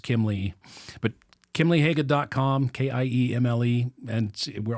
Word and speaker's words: Kiemle: But so it's pronounced Kimmel, Kimeli, it depends, but it's Kiemle.